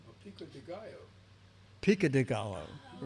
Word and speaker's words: pico de gallo: Paco de Gallo. Oh, Pico de Gallo. Pica de Gallo. Pico Right. de Gallo. Pica de Gallo. You don't pronounce the O, it's like a Y.